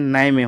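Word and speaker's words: Niamey: ये है नाइजर, इसकी कैपिटल वो निया में है, और नाई में, इसको प्रोनाउंसिएशन नाई में होता है।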